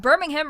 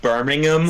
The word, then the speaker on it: Birmingham: Uh, Pey Blinders is about a criminal family operating out of Birmingham right after the end of World War I.